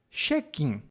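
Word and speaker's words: check-in: ou viagens de avi a palavra é cheim e a pronúncia que eu estou dizendo é a pronúncia brasileira da palavra inglesa cheen é basicamente a mesma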